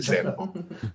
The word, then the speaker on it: Sandoval: So it's actually pronounced like Sandoval. Yeah, but I say it like a white guy from Wisconsin, so I say Sandoval.